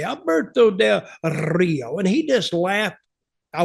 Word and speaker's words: Alberto Del Rio: so much he said every time you say his name I always roll that r and I say Alberto Del Rio and he just laughed